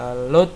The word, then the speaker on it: LD: Instruksi load ya, LD kita bacanya load ya, tulisannya LD, digunakan setiap kali rang baru dimulai.